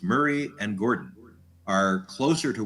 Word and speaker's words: Moray: And it looks like Moray, Morai, but it's pronounced Murray. So it's Murray and Gordon are closer to where they can pinpoint some of my DNA.